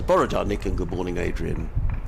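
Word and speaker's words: bore da: it is good morning how would you pronounce that b borar borar to you Duncan he says borar Nick and good morning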